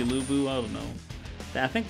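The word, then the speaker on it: Lü Bu: and uh and if you didn't know how to say lubu you just say labu oh god it's labour but it's supposed to be lubu i don't know i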